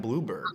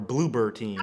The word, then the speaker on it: Bloober Team: Our next topic is going to be about Konami and Blueberg. I believe that's what we're talking about. Or not Bloomberg, but Blooper Team. Or Bloober Team.